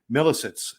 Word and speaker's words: Milisitz: back together this is Dr millit did I say it right yes he did Mill there we go